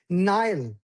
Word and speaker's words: Nile: No. Nile. I want to hear the L.